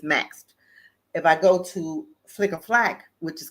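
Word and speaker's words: Flic en Flac: If I go to Flicker Flack, which is called, it's so it's funny way it's spelled and it's called Flicker Flack, right?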